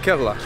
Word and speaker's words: Kerala: They pronounce it Kerala.